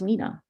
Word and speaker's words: Lena: as well as confirm the correct way of pronouncing her name, which was Lena.